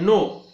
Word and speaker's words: know: उदाहरण के तौर पर नो शब्द है, नो, KNOW, अर्थात अंग्रेजी का नो शब्द जो है उसमें हम देखते हैं कि N का उच्चारण जो है या K का उच्चारण जो है वहां पे लगभग साइलेंट है।